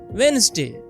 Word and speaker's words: Wednesday: People try to say every letter, but it is pronounced Wednesday. The d in the middle is silent.